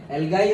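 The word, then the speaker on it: algae: भी पर्टिकुलर नाम है अलगाई और एलगी भी बोलते हैं जो प्रोनाउंस करो दोनों ही सही है सो उसका नाम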